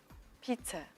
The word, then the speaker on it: pizza: The stress is in fact on the first syllable.